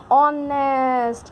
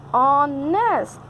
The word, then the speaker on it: honest: me, and that becomes honest. O is telling that H is silent here, no need to see H, I am the nominating one, So when you say this word, this becomes honest.